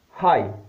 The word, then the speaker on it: high: Another rule, G is not pronounced if it comes after a vowel and before an H. After a vowel and before an H letter, like high.